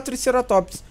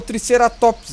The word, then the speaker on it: Triceratops: Eu falo Triceratops, mas não é Triceratops que se pronuncia. É Triceratops. É que eu tenho um vício de linguagem de falar Triceratops. Mas eu sei que o certo é Triceratops, tá?